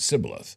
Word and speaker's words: shibboleth: I pronounce it sibboleth, the very same way Kevin does.